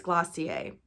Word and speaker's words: Glossier: blown up is glossy i think it's glossier that's how you say it but glossier you